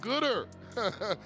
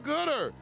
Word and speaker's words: Goodard: Huffman Middle School, the Goodard grand opening, pronounced Gooder. The Gooder grand opening at Huffman Middle School, October the 8th, noon to 1 p.m.